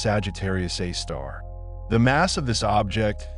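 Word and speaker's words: Sagittarius A*: Astronomers have named it Sagittarius A, pronounced Sagittarius A star.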